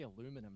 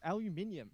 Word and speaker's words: aluminium: Aluminium. That's how it's pronounced. Aluminium. Yeah. You You sound so educated. You're definitely like adding in that I at the end.